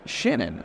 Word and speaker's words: Schannon: me right now is shinnan I hope I'm saying that correctly yes that is how you pronounce my name all right so